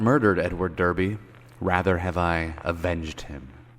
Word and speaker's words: Derby: Now, I'm pronouncing it Derby because that's how I would have pronounced it. I know, but in the UK, they pronounce Derby Darby.